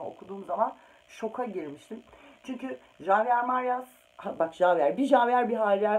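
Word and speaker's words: Javier Marías: Şöyle göstereyim ama Javier Marias diye okunuyor ama benim ağzım Javier alışmış olabilir.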